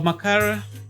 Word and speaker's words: Makara: So, Macara, that's how you pronounce it.